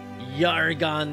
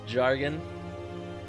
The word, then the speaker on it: Jargon: so things Yugi alright so my character is yargh on that Finch commonly mispronounced as jargon and is a halfling lightfoot bard he was